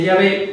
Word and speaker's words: Yahvé: La pronunciación de Yahvé es sin duda la pronunciación más correcta del original hebreo para indicar a Dios como yo soy, pues soy el que soy.